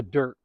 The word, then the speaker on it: Dyrt: Uh, but I've been using an app called The Dirt. And dirt is spelled DYRT.